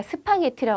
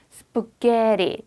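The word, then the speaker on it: spaghetti: 우리가 스파게티라고 하는 정확하게 콩글리시 발음입니다. 얘가 여기 강세거든요. 스프게의 강세가 있어요. 제가 아까 말씀드린 것처럼 강세가 있는 거를 부각한다. 그러다 보니까 그 주위의 애들은 상대적으로 사그라든다. 자기 발음을 다 내지 못한다. 그래서 스파게티라고 정확히 터져 나오지 않고 스프게리 이렇게 발음이 돼요.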